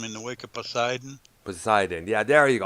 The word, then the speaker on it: Poseidon: the wake of poseidon poseidon yeah there you go i keep pronouncing podesian i don't know why i do that man i don't know